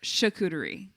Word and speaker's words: charcuterie: why the winds though charcuterie or chakutari chikuderi i think it's charcuterie but i always said it was oh because you said char like char charcuterie or or chakuri i don't know apparently it's charcuterie well it's like um